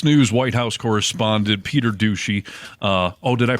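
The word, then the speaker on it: Doocy: so uh Fox News White House correspondent Peter douchy uh oh did I pronounce his name incorrectly no you got it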